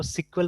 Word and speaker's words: SQL: तो जैसे SQL, आप SQL को SQL भी प्रोनाउंस कर सकते हैं, कोई दिक्कत नहीं है। ठीक है। बट पॉपुलरली इसको सिक्वल प्रोनाउंस करते हैं। ठीक है ना, बिकॉज अर्लियर इसका नाम क्या था, सिक्वल था इसीलिए।